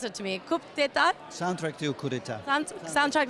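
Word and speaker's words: Coup d'état: You are nominated tonight for you're going to have to pronounce it to me. Coup d'etat?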